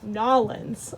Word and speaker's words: New Orleans: the way he actually made me practice saying it nollens about 10 times before i moved down